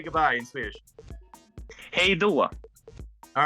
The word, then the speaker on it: Hej då: Hej då. All right, hej då. Hej då. It's awesome. Hey now. Hej då.